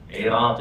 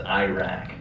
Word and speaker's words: Iraq: Iraq. Iraq is the Arabic pronunciation, Iraq. And in the American pronunciation is Iraq.